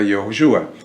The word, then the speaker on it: Yehoshua: Y el de Josué, la pronunciación correcta sería Yehoshua.